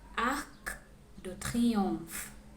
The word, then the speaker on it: Arc de Triomphe: La Tour Eiffel, le musée du Louvre, la Seine, la cathédrale Notre-Dame, Jardin du Luxembourg, Arc de Triomphe, Montmartre et Sacré-Cœur, Centre Pompidou.